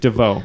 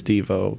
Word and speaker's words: Devo: Yep, It is Devo. Good job, guys. Somehow Neal pulled that one out. Well, I know it's supposed to be pronounced DeVoe, so I thought the rhyme of oh no, it's DeVoe.